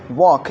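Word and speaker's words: walk: अब देखते हैं नेक्स्ट वर्ड हमारा है वॉक। इसमें एल जो वर्ड है, लेटर है बच्चे, इसको एल को हम लोग साइलेंट करते हैं। क्या करेंगे? साइलेंट करके पढ़ेंगे तो WAL की वॉक।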